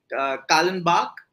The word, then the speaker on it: Kallenbach: But before that, I really wanted to talk about Gandhi and his time with Kallenbach, if I'm pronouncing it right.